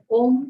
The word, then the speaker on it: Om: for half our breath, we will chant the syllable O. And then we just close our mouth for the M sound.